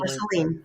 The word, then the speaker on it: Marceline: but I'm going to say her name is Marceline. Marceline. Mm-hmm. Yeah, if that is the correct pronunciation.